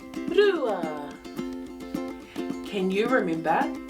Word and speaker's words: rua: It starts with the sound r, ru, rua.